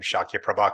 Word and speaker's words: Śākyaprabha: tell who's done Sanskrit when they pronounce the title of your thing and they say the name shakya prabha correctly um thank you everybody